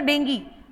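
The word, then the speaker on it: dengue: एक होता है आपका डेंगी इंग्लिश में उसको डेंगी और हिंदी में जैसा आप प्रोनाउंस करते हैं डेंगू तो चिकन गुनिया जो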